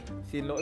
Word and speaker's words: xin lỗi: Sorry, xin lỗi, bro.